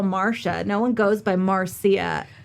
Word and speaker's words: Marcia: is that this lady her name is Marcia Mo and it's spelled Marcia is m a r c i a like your nebor so remember your neighbor with the tree yeah Marsha oh I thought it was Marcia no so Tommy he was